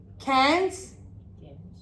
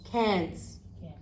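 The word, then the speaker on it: Cairns: So listen, cans, cans, cans, cans. Oh wow, same pronunciation. Different writing. Because it's a different combination of letters. Yes? So same pronunciation, but different writing.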